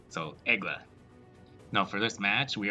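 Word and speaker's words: Aigle: the premium egla and i did look up how to pronounce it properly because i was pretty sure a geo was wrong which is uh the way that everyone else says it and it's basically just eagle in french so egla now for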